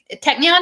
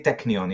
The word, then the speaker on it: Technion: cornell tech cornell technion technion is that how you say it technical technion but you can say technion yes okay so so